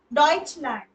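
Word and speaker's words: Deutschland: मतलब ऑस्ट्रिया यहां पे वो उमलाउड वाला उ आया है ओ आया है सॉरी उमलाउड वाला तो एस्टराइज एस्टराइज ओके डच लैंड प्रोनाउंसिएशन ध्यान से सुनना डच लैंड डिश स्वाइस शवाइस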